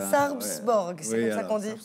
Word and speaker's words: Sarpsborg: Contre cette équipe que je vous laisse prononcer Sarpsborg. Sarpsborg, c'est comme ça qu'on dit.